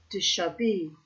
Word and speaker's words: déshabillé: Déshabillé. Déshabillé. Déshabillé. For reference in French, it is said as déshabillé, meaning partially clad or scantily dressed.